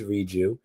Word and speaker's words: Reju: definitely said it right it is reu it's um short for rejuvenate so that could always keep you aligned on how to say it ah perfect I was